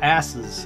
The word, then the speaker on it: arses: You know, I believe that's pronounced asses, even though it looks like arse.